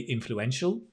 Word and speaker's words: influential: a tricky word so make sure you get the pronunciation right influential it's a shul with that dark l if you like influential influence so your tongue touches the top influential influential nice he